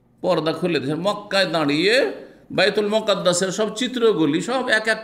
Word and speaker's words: বাইতুল মুকাদ্দাস: ফাজাল্লাল্লাহু লি বাইতুল মাকদেসে, বাইতুল মাকদেসও পড়তে পারেন, মুকাদ্দাসও পড়তে পারেন। জি জি, মুকাদ্দেস নয় শুধু, বাইতুল মুকাদ্দেস নয়, বাইতুল মুকাদ্দাস, হ্যাঁ পবিত্র, অথবা বাইতুল মাকদেস, এই দুটো উচ্চারণ ঠিক।